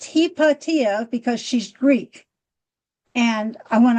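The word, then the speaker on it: Hypatia: said, "No, no, no, no, no, no. It's heippatia." And that's how the Greeks called her, Heippatia.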